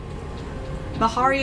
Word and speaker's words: Mahari: Mahari is how my name is pronounced.